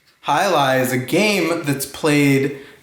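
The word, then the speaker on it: jai alai: is one of my favorites J is for hi Ally can you say hi Li hi lie is a game that's played in Spain and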